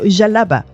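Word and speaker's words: djellaba: Am I right with that pronunciation? Yeah. So, jalaba.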